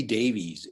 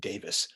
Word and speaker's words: Davies: Ray Davies is, or as he pronounces it, I think Davis. At least that's what I've been told.